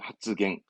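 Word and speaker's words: 発言: 때 언 발음은 갱인가요 마찬가지 땡땡이 쓰니까 이것도 그냥 하츠갱이에요 하츠갱 발언한다처럼 뺑뺑이 붙을 땐 초근 변형이 일어나지 않습니다 생활의 활자 그리고 기자죠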